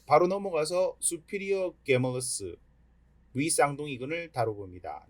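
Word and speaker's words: gemellus: 네, 바로 넘어가서 수피리어 게멀러스 위쌍동이근을 다뤄봅니다. 네, 요 게멀러스의 발음은 제멀러스라고 해도 됩니다.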